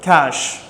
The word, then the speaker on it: cache: If you must have seen this word in computer, cache, which means a hidden place where things are stored. Cache. Its pronunciation is similar to the word cash only.